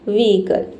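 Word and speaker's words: vehicle: We eagle आपको ई का sound देना है। हल्का ई पढ़ना है। ठीक है? छोटी इ मतलब कि हल्का प्रोनाउंस करना है। ठीक है? वीकल वीकल ठीक है?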